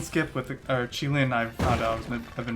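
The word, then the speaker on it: Qilin: So we're gonna go for clone gun skip, or Keelan skip with the, or Chilin, I found out I've been mispronouncing it. Chilin skip with the clone gun.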